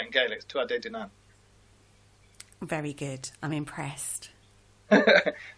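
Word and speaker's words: Tuatha Dé Danann: the D the D if you want to pronounce it properly it's Tu dunan that's how you'd say in gay Tu dunan very good I'm impressed but it basically means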